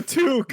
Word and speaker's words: toque: It's a toque. Yes. That's totally it. Yeah, I mispronounced.